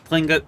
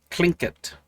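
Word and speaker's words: Tlingit: the old ways of flingit i don't know how to say this now to pronounce okay it is apparently pronounced clink it something similar to that interesting to know has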